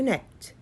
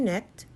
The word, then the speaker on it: knit: to connect no to net because the K is silent okay I read it again people use yarn to knit sweaters hats and mittens